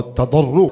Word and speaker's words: تضرع: توبہ، تواضع اور تضرع، تا ضاد را عین، پورا تلفظ بول دیا۔ तदर्रो जिन्होंने तुसी तजर्रो कहते उर्दू च।